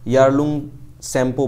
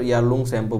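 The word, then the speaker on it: Yarlung Tsangpo: को तिब्बत के अंदर यारलंग शैंपो बोला जाता है ठीक है टी साइलेंट है यहां पर यारलंग शैंपो बोला जाता है यारलंग शप बोला है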